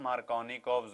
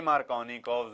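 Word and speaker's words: Markovnikov: लिखते हम KOFF हैं पर इसकी प्रोनाउंसिएशन होती है कॉव, जैसे KOV हो तो बोलना वैसे है कॉव और लिखना है कॉफ।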